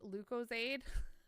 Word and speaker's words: Lucozade: Pepper, a British drink called Lucozade, pronounced Lucozade.